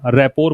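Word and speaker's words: rapport: इसको क्या पढ़िएगा? रैपोर पढ़ना है।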